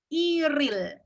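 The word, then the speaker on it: 일일: hari bisa tanggal satu berarti Il bacanya bukan Il tapi iril ya Disambung ya ilikan bawahnya adalah real harusnya bacanya Ilham tapi karena ini yang pertama adalah bertemu lagi dengan huruf vokal berarti bacanya disambung iril GTA kemudian kalau tanggal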